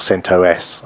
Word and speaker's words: CentOS: a rundown of what CentOS is or Sint OS I believe is the correct pronunciation and what its relationship